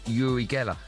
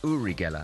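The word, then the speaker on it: Uri Geller: spoons with his mind Yuri Gella. I think it's pronounced Uriela actually.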